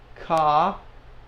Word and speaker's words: ka: Jota, ka, like the crow, ka.